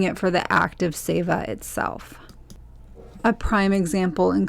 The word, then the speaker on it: Seva: over the first time was the concept of SAA it's spelled s v a and now SAA is